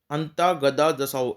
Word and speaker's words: Antagadadasao: अंता गदा दसाओ, ANTAGADADASAO, अंता गदा दसाओ।